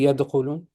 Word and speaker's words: يدخلون: don't speak Arabic, okay, if you say yadkhulun, the other person is going to write yadkhulun with the ghain because that's how it sounds to me. Does that make sense? You want to make sure the listener is clear this is a kha and not a ghain.